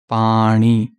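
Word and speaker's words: ਪਾਣੀ: What exists is Nanna, the sound of Nanna. So they say, which is wrong. Okay? So it is not Pani, it is Pani.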